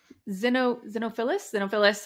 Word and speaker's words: Xenophilius: Hermione is reading about the Deathly Hallows, basically Xenophilius, I literally Googled that, so I pronounced that correctly.